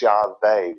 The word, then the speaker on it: Yahweh: All right, so God's name is Yahweh with a V.